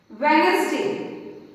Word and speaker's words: Wednesday: Now next is Wednesday. So Wednesday, Wednesday. Which letter is silent?